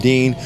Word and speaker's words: Din: spelling of my name spelled ein it's pronounced Dean but my only justification